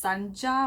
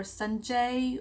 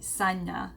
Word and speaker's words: Sanja: where you would know, it's actually Sanja. So my name is Sanja, and N is like from New York.